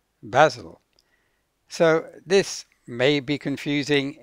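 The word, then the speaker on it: Basel: about the city of Basil in Switzerland which has a similar sound it's has two syllables but as you can hear the stress is on the first syllable basil so this may be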